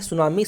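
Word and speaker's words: tsunami: की आपको पता है सुनामी में टी साइलेंट होता है इसको सुनामी पढ़ते हैं और दिस इस डी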